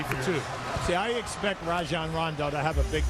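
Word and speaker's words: Rajon: And you may have heard Huie and I say Rajan Rondo. You've heard Rajan Rondo a lot, but the correct pronunciation we asked him last night is Rajan like Ry going to go the other way here.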